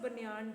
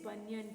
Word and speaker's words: banyan: Don't give that pronunciation banyan tree. It's not banyan tree, it is banyan tree.